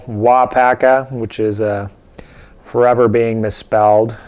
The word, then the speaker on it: WAAAGH! Paca: he did it and there's a tournament called W Paka which is uh forever being misspelled and mispronounced across the land but that is the